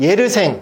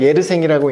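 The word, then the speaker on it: Yersin: 예르생, 프랑스니까 예르생이라고 읽는데 쓰면 또 스펠링으로 쓰면 같습니다.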